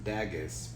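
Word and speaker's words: Dagaz: so the next room is dagus pronounced Vegas oh all right it's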